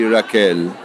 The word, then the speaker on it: Raquel: But we say Raquel. Okay, for Raquel.